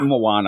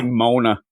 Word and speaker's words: Moana: Moana. I always say it wrong. I was going to say Mona. I say whisper and then Mona.